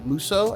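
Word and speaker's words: musou: more Dynasty Warriors or a muso I believe it's pronounced that type of gameplay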